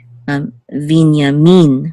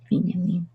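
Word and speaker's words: בִּנְיָמִן: the last syllable, and also with Benjamin, accent on the first syllable, but in Hebrew it's Vinyamin with accent on the last syllable. Vinyamin.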